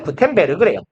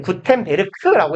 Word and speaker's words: 구텐베르크: 요하네스 구텐베르그래요. 엄밀히는 구텐베르크라고 해야 돼요. 독일어에서 저기 G가 그 단어의 끝에 오면 크로 있습니다. 크라고 해야 되냐? 크랑 사이에 있는 되게 묘한 발음이 있어요. 국어로는 발음이 불가능한 요 중간에 어디쯤에 있는 발음. 그래서 우리말로 보통 옮길 때는 크로 번역하긴 합니다.